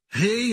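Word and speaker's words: ה: Rei é a letra do sopro de Deus. Os judeus dizem que a maneira de pronunciar rei é assim. Você sopra. Rei.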